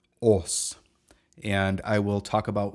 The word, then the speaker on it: Âs: going to talk about us that's right it is not us or US but rather OS and I will talk